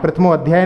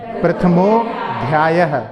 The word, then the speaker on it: प्रथमोध्यायः: गलती कर जाते हैं, तो प्रथमो अध्याय नहीं बोलना है क्योंकि संधि हुई है, प्रथमोध्याय ऐसे बोलना है नहीं, लेकिन चूंकि अपन जो लिखा है बोलना चाहें तो प्रथमोध्याय इस प्रकार से उच्चारण करेंगे।